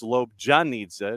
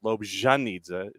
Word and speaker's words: Lobjanidze: It is Lobjanidze, not Lobjanidze. It is a J and not a Z.